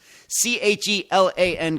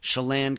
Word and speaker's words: Chelan: And yes, that is how you pronounce it. Chelan County, Chelan County, Washington.